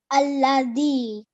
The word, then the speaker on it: الذين: remind you of is this dal here is pronounced very softly. Okay, so when you put your tongue, when it touches your upper teeth, that's how the sound comes out. The. Alladhi.